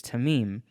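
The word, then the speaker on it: תמים: um the word for perfect in Hebrew is tamim very confident about that pronunciation this is translated to complete intact unscathed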